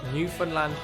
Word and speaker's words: Newfoundland: in the wake of 9/11, and the small Newfoundland community, yep, that's how you say it, that invited these come-from-aways into their homes.